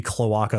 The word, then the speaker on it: cloaca: Cloaca is, I think, how you say that one. Is that how you say it? Yeah, I'm not sure. Oh, you're right. Yeah, cloaca.